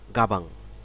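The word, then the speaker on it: 가방: কথা বলব সেটি হচ্ছে গাবাঙ খেয়াল করুন গাবাঙ গাবাং কিন্তু দুই সিলেবাল বিশিষ্ট শব্দ গা বাঙ গাং খেয়াল করুন গায়ে একটি সিলেবেল এবং বাঙ একটি সিলেবেল তো গাবাং শব্দটি দুই সিলেবাল বিশিষ্ট একটি শব্দ যার অর্থ হচ্ছে ব্যাক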